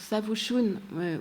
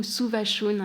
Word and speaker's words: Savushun: Et donc, Savushun, c'est cette œuvre-là, donc Savushun ou Suvashun, il y a 2 prononciations possibles. En anglais, ça a été traduit sous le titre de Savushun. L'écriture persane ne permet pas de décider.